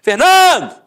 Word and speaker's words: Fernando: Por exemplo, Fernando! Ficou onde? A sílaba tônica? No NAN. Então você mata que a penúltima sílaba é a sílaba tônica.